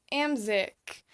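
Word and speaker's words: Amzyk: room so the next character her name is am sick well okay so it's spelled a my Z Y K and that's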